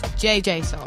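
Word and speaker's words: JJ Soulx: My name is JJ Soul. JJ Soul. Sorry. And it's with a silent X.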